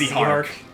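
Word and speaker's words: Zihark: Canonically, it's pronounced Zyhark, but...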